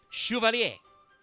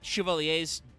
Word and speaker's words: Chevalier: This is Madolche Chevalier. Pronounced in Japanese, Chevalier. So, yes, it's Chevalier. Not Chevalier, Chevalier.